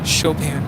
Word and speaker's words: Chopin: Is it pronounced Warsaw Chopin Airport, or is it Chopin? Chopin.